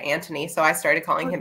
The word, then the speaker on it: Anthony: her brother yeah yeah so it's spelled anthony but they said it antony so i started calling